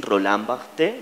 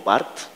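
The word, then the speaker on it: Roland Barthes: jamás he podido pronunciar los finos dicen Roland bte o Bart yo digo rolán bartz cierto rolán bartz dice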